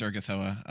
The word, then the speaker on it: Urgathoa: It is Urgathoa. Okay. That's how I used to pronounce it, and it sounds nice.